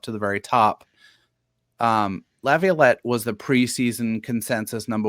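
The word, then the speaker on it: LaViolette: You might have to fix my pronunciation here. Is it Lavlet? Yep, you got it. Jay Lavlet.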